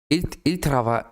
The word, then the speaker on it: ils travaillent: And ENT that you never hear at the end of the verbs. So written literally, ils travaillent, pronounced, il travaille.